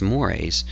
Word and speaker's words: mores: it on the other hand we have mores mores spelled like this but pronounced mores uh are those Norms related to um those